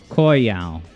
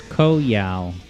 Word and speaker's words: Koyao: Yeah, in my head when I'm saying it, I always, at least am trying to say the first syllable as Koi, as in rhymes with boy, Koyao.